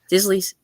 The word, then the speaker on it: Disley: Now, how do you pronounce the first name? Is it Disley or Disley? Disley's sister. It's Disley.